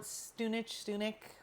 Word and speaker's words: Stunich: Our last name is really common there, and it's pronounced Stunich. So I've heard that too in my life. You can call it Stunich, whatever. Doesn't matter.